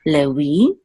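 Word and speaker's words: לֵוִי: So this would be, instead of Levi, it would be Lewi. Okay. It was also sometimes an O, but it was never a V sound anciently. So this is Lewi.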